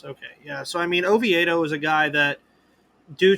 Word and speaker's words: Oviedo: I can but uh Johann a veto Oviedo Oviedo yes how do you feel about that matchup